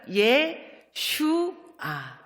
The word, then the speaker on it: 예슈아: 예슈아. 발음이 조금 어렵죠?